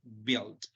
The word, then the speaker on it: build: listo por acá tenemos build la u no se pronuncia la vamos a omitir completamente y decimos build build is construct something by